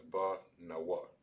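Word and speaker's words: בנו: The na and the wa are both separated on the end. They're not connected. So it will be pronounced as ba nawa, banawa.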